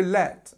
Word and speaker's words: let: we can see that the pronunciation is e so it's nice e sound very short let him in